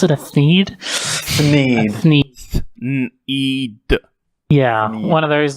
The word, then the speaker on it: Thneed: I was like a God, how do you pronounce it? A Thneed? Thneed.